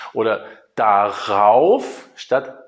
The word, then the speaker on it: darauf: So, and in order to be able to pronounce this better, we say an R in the middle. So darüber instead of daüber or darauf instead of daauf.